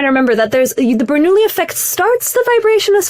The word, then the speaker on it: Bernoulli: They're like, it's pronounced Bernoulli. It's like a French dish. It's Italian, right? So it's like Bernoulli. Bernoulli. Now there's Italians listening to this who are upset.